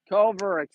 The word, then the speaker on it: Cover: Cover launches ball 1-1-0. I've been butchering it the whole time. It's Cover. My apologies. Eric Cover. It's spelled cover, but it's pronounced Cover.